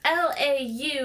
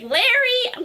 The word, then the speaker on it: Laurie: Lori is Laurie, and that would rhyme with story. But my mom decided to name me Laurie, and it's Laurie. Oh my gosh. And so that rhymes with, like, sorry.